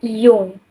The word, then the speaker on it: Jung: psikologi namanya kur Gustav Jung walaupun tulisannya Jung Tapi bacanya jung ya sebagai mahasiswa psikologi kalau ketahuan nyebut nama si Yung ini pakai Jung canda jadi Yung ini